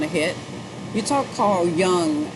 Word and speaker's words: Jung: You talk Carl Jung, the J is silent, but it's a hook, because they call him the father of psychology, or modern psychology.